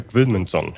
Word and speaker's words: Guðmundsson: And I will leave the pronunciation of the artist who's creating this monument to you, Breki. Yeah, say that. Sigurður Guðmundsson. Oh my lord. I would have got Goodmanson right.